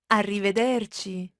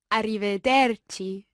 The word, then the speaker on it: arrivederci: and it is arrivederci Francesca let's hear the pronunciation of this arrivederci Kitty arrivederci and this literally means until we see each